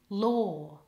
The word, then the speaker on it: law: word law and lawyer the word law rhymes with door The Vow there is or law door lawyer has an oi in it like in the word boy ready lawyer now try it